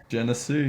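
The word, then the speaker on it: Genesee: It's like Tennessee with a G. Jennese.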